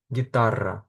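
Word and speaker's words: guitarra: Відповідно, в таких випадках ми літеру У не читаємо і вимовляємо ге гі. Наприклад, герра, гітар, щоб літера у читалась, над нею ставляться дві крапочки, які називаються крема в іспанській мові.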